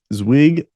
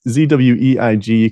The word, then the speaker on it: Zweig: was released by David zwig I'm sure I pronounced that mispronounced that last name uh David zweig can follow him on Twitter at David zweig I think it's pronounced zwig could be completely wrong there but he released